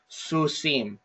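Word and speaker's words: סוסים: And the way that you pronounce this word is susim, susim. Okay, susim.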